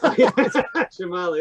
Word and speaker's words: Shyamala: Her mother, Shyamala Gopalan, was a Shyamala. Okay, thank you. Shyamala and Kamala. Shyamala, there we go.